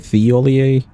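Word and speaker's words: Thiollier: Actually, how do you pronounce his name, chat? Is it Tholier Theolier?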